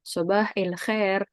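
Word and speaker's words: صباح الخير: Ustadz bilang, Ustadz yang pertama bilang, Sobah il khair. Kemarin kita udah belajar tentang kalau alif lam itu bacanya il. Kan harusnya kan alhamdu misalnya gitu ya. Alhamdu, tapi ilhamdu. Al khairu jadi il khair gitu.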